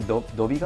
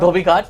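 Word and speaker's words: Dhobi Ghat: There's a Dobby Guard? Dobby Ghat, that's Yes, the one. yes. Perfect pronunciation, by the way.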